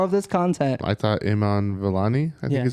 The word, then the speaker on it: Iman Vellani: I thought Iman Vellani, I think Yeah, is how you Iman- pronounce her name.